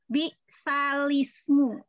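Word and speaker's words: بِئْسَ الِاسْمُ: Jadi bacanya itu menjadi bisalismu. Salah. Bisalismu. Nah, tadinya lamnya itu sukun bisalismu ya. Nah, tapi sekarang lamnya jadi berharokat kasroh.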